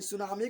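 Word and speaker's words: tsunami: सुनामी लिखता है टी से। कैसे लिखता है? TSUN, ठीक है। टी से होता है TSUNMI, सुनामी। तो टी से स्टार्ट होगा, स्टार्ट होता है, लेकिन टी बेचारा है साइलेंट।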